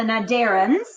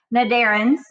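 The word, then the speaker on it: cnidarians: about is called the naderens and yes i know it starts with a c it's a silent letter naderens these are gonna be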